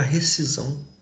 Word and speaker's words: rescisão: do professor técnica haverá Rescisão a letra de acrítica aqui ó o s não é pronunciado mas ele existe na escrita na fala e não